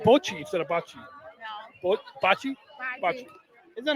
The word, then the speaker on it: bocce: you're Italian, and the right way to say bocce? Yeah. So we should say bocce instead of bocce. Bocce? Bocce. Bocce instead of bocce? Bocce. Wait, I think you said bocce instead of bocce. No. Bocce?